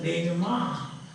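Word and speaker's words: dénouement: It is pronounced as denouement.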